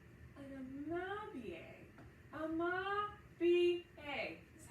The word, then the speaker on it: Amabie: Amabie.